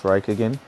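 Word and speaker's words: Räikkönen: My bad for pronouncing it as Rio. It's Raikkonen.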